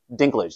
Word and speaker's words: Dinklage: a second so yeah this is a Peter Dinklage that's how you pronounce his name the one from Game of